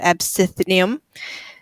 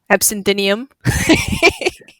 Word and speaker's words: absinthium: Latin name is emesia absum I knew I was gonna say that wrong absinthium uh mispronouncing Latin names